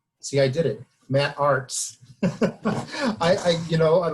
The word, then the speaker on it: Artz: i did it matt arts i i you know like i just joked with matt about the german pronunciation which is arts you know so now